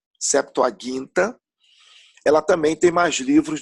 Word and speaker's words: Septuaginta: mais livros na Septuaginta, lembrando sempre a pronúncia correta de acordo com o grego, Septuaginta, ela também tem mais livros do que a nossa Bíblia, Antigo Testamento.